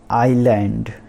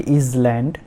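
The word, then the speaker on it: island: फिर आइलैंड नॉट इजलैंड, आइलैंड, ठीक है।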